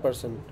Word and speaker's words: Paris: ठीक है, फ्रांस में इसको पेरिस बोलते होंगे मे बी। तो ऐसे करके जैसे हाँ पेरी बोलते हैं उसको, इस तरह बोलते हैं। हाँ परी, परी In Paris, they pronounce it पारी।